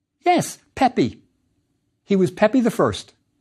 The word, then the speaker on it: Pepi: Pronounced? Yes, Pepi.